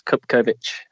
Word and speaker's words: Cupkovic: My surname, just for the record, it's Cupkovic.